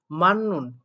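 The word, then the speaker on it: 맞는: অর্থ আন্ডারলাইনকৃত বুবুনি অংশে মান্নুন অর্থাৎ সঠিক। এখানেও দেখেন বাচিমে ত বর্গীয় বর্ণ আছে আর তারপরে নিউন আছে, যার কারণে এখানেও মূলত জিউটটাকে দন্ত ন পড়ে মান্নুন উচ্চারণ করা হলো।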